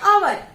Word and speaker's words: hour: जो HOUR होता है उसे हम हवर्स नहीं पढ़ते, उसे हम पढ़ते आवर।